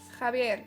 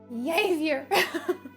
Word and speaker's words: Javier: And that's why they write like J-A, because it's like ha ha ha. Right? It's like ha ha ha. Because the H in Spanish is silent.